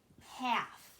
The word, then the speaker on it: half: so that is called 1/2 H a LF that L is silent and that's called 1/2